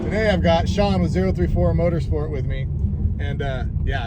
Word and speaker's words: 034: with me, and yeah, I finally figured out how to pronounce it. We're in. 34. Yeah. You know, there's a lot of debate about it. I don't know why, but You know I've been what? corrected both ways. 034 is correct. That is the only way you should ever pronounce it.